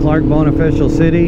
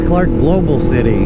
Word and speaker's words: Clark Global City: official out bone official I thought I've been saying it wrong the whole time because I've been calling it Clark bone official City and I was like now that's not right it's Clark global city but that just said